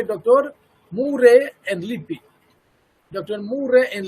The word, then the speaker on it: Murray: Murray and Lippi. There you see, Murray. Somebody will pronounce Muir, not Muir. This is Murray.